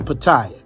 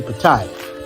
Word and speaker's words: Pattaya: And just so you guys know, the proper way to say it is Pattaya, not Pattaya. But Americans say Pattaya, but it's really Pattaya.